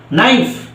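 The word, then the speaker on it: knife: টা উচ্চারণ হয়েছে বাট কে টা কি আছে সাইলেন্ট আছে তারপর দেখো আরেকটা এক্সাম্পল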